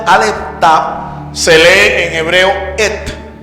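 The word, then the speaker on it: את: y estas dos letras se leen en hebreo et et et continuamos que Jesús es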